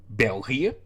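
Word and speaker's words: België: languages spoken in Belgium in Dutch that would be belgia in French that would be laic and in German that would be Belgian well uh of course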